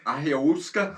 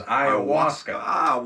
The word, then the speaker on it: ayahuasca: It's stupid, just I like believe the correct pronunciation is ayahuasca.